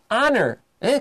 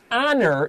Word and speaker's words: honor: This sounds like a short O. So 到底这个 the anguage 不是有没有母音的字母、 mm-hmm. It's 有没有母音的发音。没错，就是以前我们学是 A-E-I-O-U 是母音嘛，但是我们不是看说有 A 有 I 就是一定是母音，又就念 the 或者是念 an，没有，还是要看它的发音的。 That's right. This is honor.